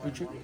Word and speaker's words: Utrecht: Now we're back with Utrecht. Is that how you say it? Utrecht? Yep.